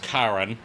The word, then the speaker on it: Charon: First of all, it's pronounced Karen.